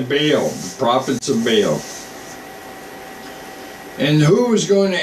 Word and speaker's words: Baal: they called baale I I'll say Bale because I think that's how you pronounce it B a a l bow or bail all right so whatever float